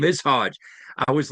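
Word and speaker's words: Hoge: who I work and his last name is spelled H O G E. There's no D in there.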